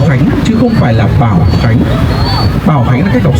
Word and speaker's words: Báo Khánh: Dạ xin thưa, đây là cách đọc sai ạ. Bảo Khánh là cách đọc sai.